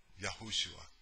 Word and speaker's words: Yeshua: who he was yeshua in the hebrew and it's felt like this it's spelled like that that's what the that's the aramaic okay in the hebrew in the hebrew pronunciation would be yahushua okay but back then